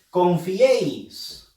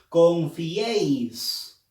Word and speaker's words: confiéis: Confiéis. Nadie dice confiéis, no. Dice confiéis. Entonces, confiéis. La E lleva fuerza de voz.